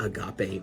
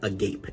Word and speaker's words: agape: a definition of what Agape means CU it looks like the English word Agape AG g a p